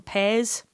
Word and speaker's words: pies: the world, in Dundee, we make pies, except we call them peas. And that's a very specific... Firstly, we're the only sort of city on the east coast of Scotland who uses that particular pronunciation.